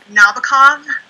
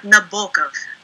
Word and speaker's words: Nabokov: Also, it's not Nabokov, as Devin loves to troll me with on nearly a weekly basis. It's Vladimir Nabokov. Nabokov. Nabokov. Yeah, that makes sense. It makes sense because that's the right way.